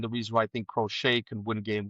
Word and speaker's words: Crochet: I've heard it pronounced Crotchet, just like Michael Penix. Crotchet. That's like Miami Vice.